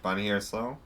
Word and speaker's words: Bonnie Harris-Lowe: here with uh Miss Bonnie Harris Low. Is that how it's pronounced? Bonnie Harris Low.